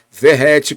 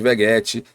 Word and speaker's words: Vegetti: do centroavante Pablo ferretti Ferreti como ele mesmo disse que é a pronúncia do seu nome né algumas pessoas como eu chamava de veguete veget e é Ferreti segundo ele é uma origem italiana o seu sobrenome e se pronuncia como ferrete foi apresentado pelo Paulo